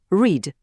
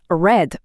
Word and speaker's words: read: У теперішньому часі ми кажемо довго read, а от у минулому часі та для дії прикметника воно звучить як red. Тактак, наче колір червоний.